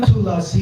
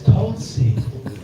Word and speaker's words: Tulsi: It's not Tulasi, it's Tulsi. Pronunciation is Tulsi.